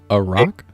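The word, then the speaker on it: arak: if you've got it can you pronounce that slowly a rock a r a k yeah it's a it's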